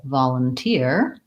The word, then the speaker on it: volunteer: we look at volunteer we have third syllable stress volunteer and again the vol again says ah in this word the vowel and in this case the break is between we have a little next syllable starting with an L ball LUN in that syllable we have the vowel schwa sounds like up so if I wrote it out in spelling it would look like vol Lum and then we have an ear diphthong volunteer and that is